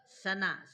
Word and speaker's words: सना: सना सना, दांत जोड़ करके बोलिए, सना। तालब्य में थोड़ा श, देखिए मूर्धन्य श, ये स दंत है। सनाद्यंता धातवः, सना, दांत को एकदम जोड़ लीजिए, उच्चारण करिए, अपने आप हो जाएगा।